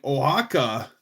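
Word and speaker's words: Oaxaca: I knew that the X in Mexico, but yeah, but like ohaka that doesn't how it's pronounced is nothing like it looks like when it's spelled.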